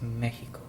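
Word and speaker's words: México: Now you notice a little accent over the E, and the X in Mexico in Spanish is softer, so it's actually pronounced Mexico.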